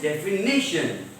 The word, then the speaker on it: definition: So its correct pronunciation is definition.